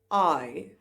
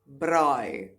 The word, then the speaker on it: braai: Alright, so let's move on to the individual pronunciation of these sounds as well as some vocabulary to accompany them. I, braai, braai.